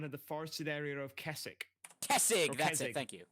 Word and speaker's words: Kessig: It's said with a G.